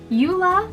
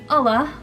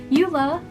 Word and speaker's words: Ula: i'm saying his name right lauren the ex-trooper yula which is how the internet told me to pronounce it even though throughout the whole book i was pronouncing it allah but eula the spy and eldon axe which is the